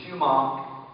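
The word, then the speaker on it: sumac: Shaw, did you realize there are only two words in the English language that combine the letters S-U that are pronounced shoe? One of them is shumach, and one is sugar.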